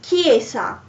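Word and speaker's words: chiesa: for example uh in kiesa so the church after the letter c there is the letter h so it's pronounced k so let's say it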